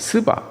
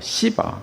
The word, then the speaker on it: 스바: 그래서 보면 스바 영화 여왕이 되는데 뭐 어떤 영화에 보면 뭐 시바라고도 하고 또 어떤 때는 또 쉬바라고도 하고 이게 발음이 그렇습니다. 스바 뭐 시바 쉬바 이렇게 말하고 있습니다.